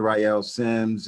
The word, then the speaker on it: Ryeal Simms: Tell the audience about your name, pronounce properly, and what you do. Yes, my name is Dr. Ryeal Simms, and I'm a relationship expert, relationship scientist, and